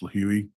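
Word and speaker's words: Lihue: trip from Phoenix to lih which is I believe it's pronounced leui Hawaii on the island of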